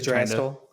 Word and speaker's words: Yggdrasil: I think that's how you pronounce the world tree, Yggdrasil. Yeah. Oh, yeah, and it's obviously Yggdrasil.